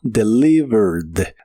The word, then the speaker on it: delivered: En el pasado es del, es un verbo regular, así que en el pasado termina con e d, aunque solo se pronuncia la d y suena como delivered deled.